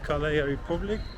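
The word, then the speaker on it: Calea Republicii: This is Calea Republic, that's how they pronounce it, like the street of Republic.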